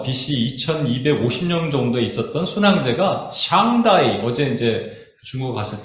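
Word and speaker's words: 上帝: 네, 그게 그 샹다이 샹띠 중국 발음은 샹띠라고 하는데 이제 미국 사람들 샹다이라고 하는데에 대한 문헌이 있는데 이런 문헌이 있대요.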